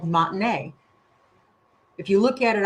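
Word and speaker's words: Monte Ne: The town was called Montinea. If you look at it on the map, it looks like it it it looks like it's pronounced Monty Ni, but it's Montine.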